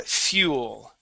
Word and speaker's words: fuel: we're using the word fuel okay we start off with an e sound so f e so fuel fuel try that if fuel